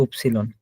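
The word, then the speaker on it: Ypsilon: আমরা বলছি ওয়াই, কিন্তু উপসিলন, এটা ডয়েসে বলা হয় উপসিলন।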